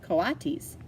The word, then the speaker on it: coatis: Brisbane said reading from the letter pronounced coatis the Colossus looked weird mrs.